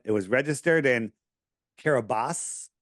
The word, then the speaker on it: Kiribati: And it said it was registered in Kiribati. Kiribati is how it's spelled, but Kiribati it's called.